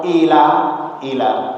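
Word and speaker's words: إلى: Itu bacanya ilah, artinya ke atau kepada. Tapi kalau illah sama, hamzah juga alif ada hamzahnya, terus lam, terus ada alifnya. Illah beda, ilah dengan illah.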